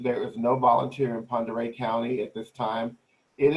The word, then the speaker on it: Pend Oreille: You see Stevens County, Pend Oreille County, and Pend Oreille is a Native American word. So when you look at it, it doesn't pronounce the way it reads.